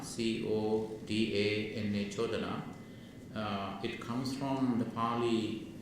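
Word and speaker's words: codana: So the first word is chodana, C-O-D-A-N-A, chodana. It comes from the Pali root chud, C-U-D, khad, not khad. Pali pronunciation chud, C-U-D, pronounced chud.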